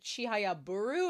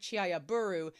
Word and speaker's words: Chihayafuru: but it's pronounced like chiaburu due to a quick a quirk of how compound words work in Japanese.